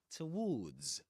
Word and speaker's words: towards: begins without of course it begins with awah to towards in this accent in in the UK. So actually in in RP or modern RP towards towards and it ends with that long sound you'll find in words like flu towards and with an S at the end unlike American English in which you'll hear something like word to word without the s at the end.